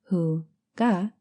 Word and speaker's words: Hygge: All over the world, Hygge, pronounced Hu-ga, has garnered worldwide popularity.